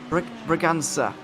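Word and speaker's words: Bragança: name uh from uh from someone who actually is Portuguese who I also can't say the second tables okay uh Pedro Braganza the the sea with a squiggle is a is a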